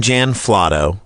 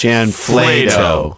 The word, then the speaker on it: Jan Flato: We call him Jan Flotto. but it's pronounced Jan Flato.